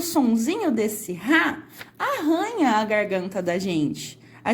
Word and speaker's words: arranha: Aqui onde o R é mais fraco, nós conseguimos pronunciar aranha. E aqui onde tem os dois R's e o som vai ficar mais forte, nós falamos arranha. Veja só, dá essa arranhadinha